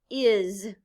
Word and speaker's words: is: look at it again the consonant s at the end of words can stand for the z sound look at the word is say it with me is the letter i stands